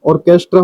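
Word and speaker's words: orchestra: ऑर्केस्ट्रा का ऑर्केस्ट्रा हो जाता है।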